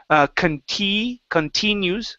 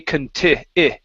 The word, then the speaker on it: continues: Give me a short I right here instead of continues. Okay, continues.